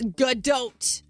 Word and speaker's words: Gadot: There's no way you pronounce the T. Gadot. It's Gadot.